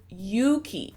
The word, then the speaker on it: Yuki: issues saying my name it's Yuki you ki simple that's all folks thank